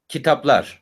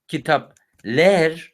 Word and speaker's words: kitaplar: If you pronounce this letter properly, which is A, kitaplar. When you try to say kitapler, then of course, even your mouth and your muscles on your face struggling.